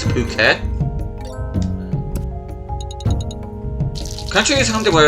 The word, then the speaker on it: Phuket: Yes, I know how that looks like it should be pronounced, but it's not. It's Phuket.